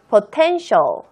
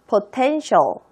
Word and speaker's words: potential: 읽으실 때 주의하세요. T-I-A-L이 있어서 T-L 이렇게 읽는 게 아니라 shall. shall 발음이 난다는 거 다시 한번 읽어보겠습니다. potential. potential.